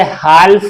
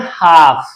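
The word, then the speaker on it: half: ए एल M balm H ए एल एफ इसे हाल्फ नहीं पढ़ते इसे पढ़ते हैं हाफ क्या पढ़ते हैं हाफ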